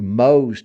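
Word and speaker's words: Mohs: are 30 they do Mo's technique m o h uh s is they pronounced it are you familiar with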